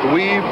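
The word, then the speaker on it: Weuve: W-E-U-V-E, pronounced Weave.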